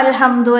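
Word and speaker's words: الحمد: അപ്പോൾ അൽഹംദു എന്നതിൽ ആദ്യത്തിൽ ആ അലിഫ് വരുമ്പോൾ നമ്മൾ എന്ത് ചെയ്യും? അവിടെ ആ എന്ന് പറയും. ഇടയിൽ വരുമ്പോൾ അതിനെ ചേർത്തി ഓതുമ്പോൾ ആ അലിഫ് ഉച്ചാരണത്തിൽ വരൂല. അപ്പോൾ ചേർത്തി ഓതുമ്പോൾ ഉച്ചരിക്കുകയില്ല എന്ന് നമുക്കിവിടെ എഴുതി കൊടുക്കാം.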